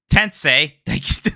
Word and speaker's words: Tensei: persona and shim Mami tensei Chris Lally put parenthesis tense is pronounced like Sensei Mike love you and